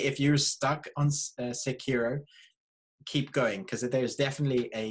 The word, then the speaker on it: Sekiro: Sekiro. I mean, pronouncing it wrong, so I've been corrected for one.